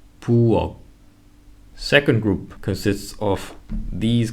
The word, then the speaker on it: 부엌: However, notice how there is no H sound in the end. In lots of European languages, H is pronounced in the end. For example, in words like cake, tap, and hit. However, in Korean, there is no H sound unless it's followed by a vowel. Again, without any H pronunciation, 묵, 박, 부엌.